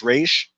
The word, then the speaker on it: Ra's al Ghul: It's pronounced Raz. Yeah, I've heard it pronounced both ways, Ra's al Ghul and Ra's al Ghul. In Batman the Animated Series and Arkham Knight, the Arkham games, it's pronounced Raish, but I've heard it pronounced Raz as well.